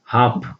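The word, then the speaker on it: half: ಹಾಪ್ ನೋಡಿ, ನಾಟ್ ಹಾಲ್ಪ್ ಅಲ್ಲ, ಹಾಪ್ ನೋಡಿ, ಉಚ್ಚಾರಣೆ ಬಿಡುತ್ತೆ, ಹಾಪ್ ಅಂತ ಬರುತ್ತೆ, ಇಲ್ಲಿ ಎಲ್ ಸೈಲೆಂಟ್ ಆಗುತ್ತೆ. ನೆಕ್ಸ್ಟ್ ವಾಕ್, ನಾಟ್ ವಾಲ್ಕ್ ಅಲ್ಲ, ವಾಕ್, ಇಲ್ಲಿ ವಾಕ್ ಅಂತ ಇದೆ, ಇಲ್ಲಿ ಎಲ್ ಸೈಲೆಂಟ್ ಆಗುತ್ತೆ.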